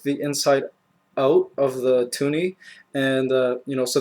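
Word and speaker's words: toonie: I wanted this to be called bear, but I obviously lost and they called it a tuni because it rhymes with loony.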